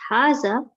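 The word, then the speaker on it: هذا: Haza is pronounced Haza, but it is written without the first alif.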